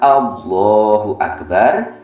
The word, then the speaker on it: Allahu akbar: diganti dengan yang lainnya jadi bacanya Allahu akbar lafal Allahnya kita baca panjang kemudian lafal Akbarnya kita baca pendek yang terpenting untuk diingat